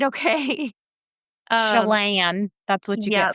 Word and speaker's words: Chelan: Uh, so Chelan is a Salish indigenous word, and it's pronounced Chilan. That's the best I could do, so don't come for me on that because I tried, okay? Um, Chelan.